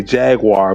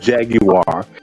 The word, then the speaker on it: Jaguar: So they say to the United States when Jaguar, which they say here they say Jaguar, but it's called Jaguar if properly pronounced.